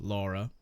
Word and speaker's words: Lara: So the trivia is that her name was Laura. Then the writer takes the script to the States, and the Americans pronounce the name Lara because they don't believe in the letter U.